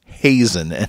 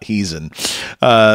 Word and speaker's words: Heezen: people know his name who's pronounced J'son not heezen so what can you